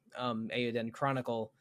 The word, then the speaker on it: Eiyuden Chronicle: after, in advance of Eiyuden Chronicles. Is it Eiyuden Chronicles singular? It's Eiyuden Chronicle. Yeah, it's correct. Chronicle. You're right. Okay. I realize I had said it wrong somehow.